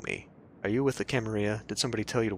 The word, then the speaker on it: Camarilla: sounds tasty so in this game it's not camarilla it's pronounced camarilla which is of course up for debate amongst